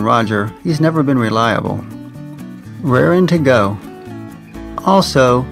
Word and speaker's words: rarin': This idiom is usually always pronounced rarin instead of raring.